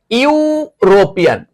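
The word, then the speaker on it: European: চলো, এই দেখো ইউরোপিয়ান, ই এর উচ্চারণ কার মতো হয়েছে? ইউ এর মতো হয়েছে।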